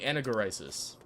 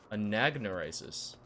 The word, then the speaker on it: Anagnorisis: first head back to where is anaris anagnorisis is that what I said hold on have I been saying it wrong the entire time anagnorisis I've been saying anaris anagnorisis I did get the